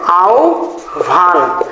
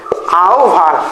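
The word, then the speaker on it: আহ্বান: ও আর ভ তাই না তাহলে এখানে আমাদের উচ্চারণটা হবে আও ভান আও ভান অর্থাৎ ও আর ভ এর উচ্চারণ হবে আর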